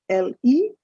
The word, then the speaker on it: le: The first is L-E, that's pronounced as le.